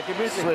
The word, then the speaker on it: Gemütlichkeit: Now with this kind of Gemütlichkeit, Yes. I pronounced that right? You did that right. Yeah, Gemütlichkeit.